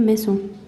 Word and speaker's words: maison: Maison, il est l'anglais est. Et ici, norvégien, o. Son. Maison. C'était cette prononciation. If you think of this is the word maison, he, and then Norwegian sound o, maison.